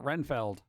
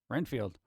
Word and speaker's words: Renfield: bug eater man field is that Seinfeld or is it renfeld Renfield unless I'm thinking of